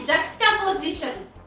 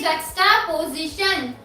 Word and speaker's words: juxtaposition: अब हमारा जो नेक्स्ट वर्ड आता है, अब जो हमारा नेक्स्ट वर्ड है वो है जक्स्टापोजिशन। जक्स्टापोजिशन पोजीशन, JUXTA पोजीशन, POSITION। यस, देखिए इसको हम प्रोनाउंस करेंगे जक्स्टापोजिशन, JUXTAPOSITION।